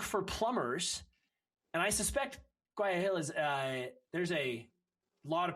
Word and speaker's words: Guayaquil: And how do you say the name of the town you're in? Guayaquil? Is that how you say that? Guayaquil. Guayaquil, I totally screwed that up.